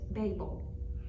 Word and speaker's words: Babel: from that word but mine has the pronunciation that says babel and and it says